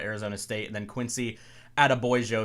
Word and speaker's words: Adebayo: State, and then Quincy Adebayo. If you kind of say Attaboy and add an O at the end, I believe that's the right way to pronunciate it, out of Mississippi.